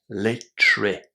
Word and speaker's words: literature: And remember that with this one actually the A in front of the Tur E is pronounced as E. Literature.